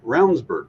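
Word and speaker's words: Ravnsborg: was running as well but rburg name is spelled ravensborg Raven that's right it is right but it sounds like rburg and you know and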